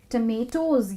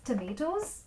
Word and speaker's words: tomatoes: तो टमेटोज जो है वो बिल्कुल पोटैटोज की तरह प्रोनाउंस होते हैं। तो जैसे कि ये पोटैटो नहीं है, उसी तरह ये टोमेटो नहीं है। सो पोटैटोज होते हैं, उसी तरह से टमेटोज होते हैं। तो इस प्रोनाउंसिएशन को आप ज़रूर याद रखिएगा, इट्स टमेटोज।